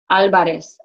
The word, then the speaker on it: Álvarez: Remember, you got those written accents in there. So it's not Andrés, it's Andrés Álvarez. Álvarez, get your accent.